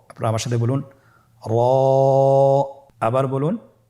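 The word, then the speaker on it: ر: মোটা করে উচ্চারণ করব। এবং র হরফটি এক আলিফ টেনে পড়ব। আপনারা আমার সাথে বলুন র আবার বলুন র এর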